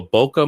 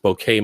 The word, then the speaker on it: bokeh: turn what's called a bokeh mode on mm-hmm about i think it can be pronounced bouquet mode right right i don't know